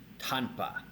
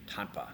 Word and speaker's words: tanpa: is very very important with two of the words that we just learned with Tamba and tanpa they sound very similar and a lot of Indonesians will pronounce them especially if you're asking for copi somebody might like oh Pak cop so it's really really important to get the pronunciation down between Tamba and Tampa especially when you're listening so I'll do my